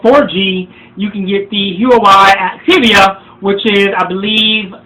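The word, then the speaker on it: Huawei: with it uh you the uoi or as my friend says the wowie spell h-u-a-e-w-i i think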